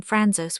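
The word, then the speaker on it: Franzose: The German name franzos with its accent on an O in the second syllable comes from Francois, a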